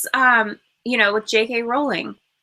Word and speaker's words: Rowling: know with JK rolling it's it's rolling a lot of people say rling and even on Jeopardy she was an answer and the guy said JK rolling and he got it wrong because he pronounced it wrong and they're like JK